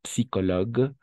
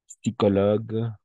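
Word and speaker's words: psychologue: Psicologue. Psicólogos, ¿no? Oh. Sí. Sí, yo me estoy trompé. Sí. Un pneu. Una llanta. Neumonía. Neumonía, o sí. Neumonía. Vamos a pronunciar las P's.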